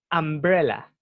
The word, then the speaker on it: umbrella: Ya, y se dice an umbrella. Umbrella. Repítalo. Umbrella. Sí, ustedes van a ver la letra U, pero esa U se pronuncia como A. An umbrella.